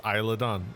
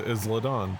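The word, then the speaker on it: Isla Dawn: names I realize that it's uh it's Isla Don not isladon foreign yes oh yeah because I don't watch the product so I don't I've never heard it pronounced so I'm like it's eyelidon but because I look at that word and I Me growing up with Spanish speakers I think Isla so of course I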